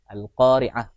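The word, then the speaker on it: القارعة: Karena di sini ainnya banyak, khususnya di ayat di awal-awal Al-Qari'ah. Al-Qari'ah mal Qari'ah. Nah, jadi ainnya harus kedengaran berbeda.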